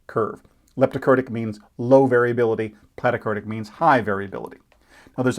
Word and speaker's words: platykurtic: flattened that is a platykurtic curve think of plat rhymes with flat or plait like a plate a low flat curve